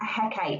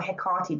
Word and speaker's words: Hecate: And we have to think back to the idea of Hecate here, or Hecate, depending on how you say it, the goddess of the crossroads.